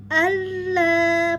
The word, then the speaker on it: Allah: Allah, pastikan mulut terbuka, rahang atas rahang bawah tarik ke samping. Allah ya, 2 harokat karena ada alif lam ya.